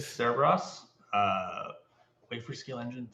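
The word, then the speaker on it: Cerebras: We have Cerberus, or how do they pronounce that name? I was going to say Cerberus, but that's Greek mythology. Cerebros, I believe. Cerebros.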